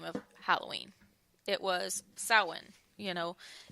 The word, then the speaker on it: Samhain: off with the name of Halloween it was soin you know it's it looks when you spell it like Samhain but it's pronounced that one